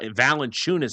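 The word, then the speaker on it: Valančiūnas: Valenunis is how you pronounce his last name.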